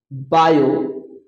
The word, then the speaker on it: Biot: आज का टॉपिक है हम लोग का application of application of बायोस लॉ बायो जिसमें टी साइलेंट होता है।